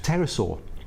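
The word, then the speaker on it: pterosaur: head of B key at terasort or Terrace or it's a silent P yeah which was neither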